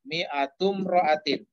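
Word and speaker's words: مائة امرأة: Di situ diberi contoh kata mi'atu rajulin, ya, 100 laki-laki, mi'atum ro'atin. Alifnya alif wasol, jadi disambung bacanya. Mi'atu imro'atin, nah, kita sambung mi'atum ro'atin.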